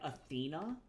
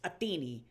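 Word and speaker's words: Ἀθηνᾶ: So in 400 BC, yeah, Athena was in um classical Attic Greek. And so it's still it would have been pronounced Atheni. Atheni or Athen. Yeah. But with their weird accent, it would have been ai potentially as well. But the tea is really gentle.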